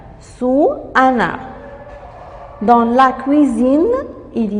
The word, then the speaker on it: cuisine: Le S entre deux voyelles se prononce Z.